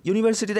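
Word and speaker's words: university: তার কারণ ইউনিভার্সিটিটা আগে এ হবে, কারণ এখানে নির্দিষ্ট করে ইউনিভার্সিটি বলা নেই, আর ইউটা ইউর মতন উচ্চারণ হচ্ছে ইউনিভার্সিটি, বুঝতে পেরেছো?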